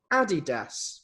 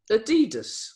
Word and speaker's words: Adidas: On my mind for this week, how do you pronounce Adidas or Adidas for some people?